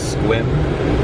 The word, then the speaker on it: Sequim: sell them drivers said our next stop is squim which is spelled like Sequim just entered some very